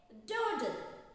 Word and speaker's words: dawdle: D-A-W-D-L-E. Dawdle. Am I right? Say this. Dawdle. Are you sure? But that is wrong. Dawdle. Say dawdle. Okay, here we are writing A, but we have to pronounce this dawdle.